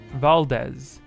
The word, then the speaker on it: Valdez: is that good fabulous Val like valerant and Dez in Desmond Valdez oh okay great that